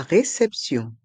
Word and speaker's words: réception: La réception. La réception. Le T se prononce se quand il est suivi de ION.